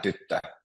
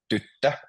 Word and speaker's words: tyttö: And does Ali, for example, want to try to say tyttö? It's a little bit more difficult vowels, I know, but tyttö. So you stress the first syllable.